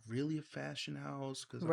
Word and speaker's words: Haus: a fashion house.